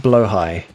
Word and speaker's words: Blaha: And by the way, Blaha is pronounced blowhigh.